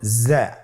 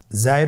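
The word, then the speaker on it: زاي: স্ক্রিনে দেখুন, হরফটি দেখতেই রয়ের মতোই, শুধুমাত্র রতে নুক্তা ছিল না, জায়ের উপর একটি নুক্তা রয়েছে। কতই সহজ। তাহলে হরফটির নাম কি? জা। আবার বলুন, জা। উচ্চারণ করার সময় অবশ্যই এক আলিফ টেনে পড়তে হবে, এক আলিফ টেনে পড়তে হবে।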